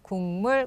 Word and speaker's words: 국물: 오래 기억에 남습니다 자 국물 어떻게 있나요 국물 궁물 국물 맞습니다 여러분들이 읽는 그 소리가